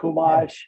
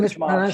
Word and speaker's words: Chumash: Chumash, I've been church mosh. mispronouncing it for a long time.